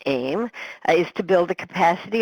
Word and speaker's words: AEM: The goal of both the AIM center, and we also pronounce the A-E-M "aym" is to build the